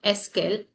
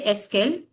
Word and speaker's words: est-ce qu'elle: Suppose you talk about elle, so pronunciation come est-ce qu'elle. Répétez, est-ce qu'elle? Est-ce qu'elle?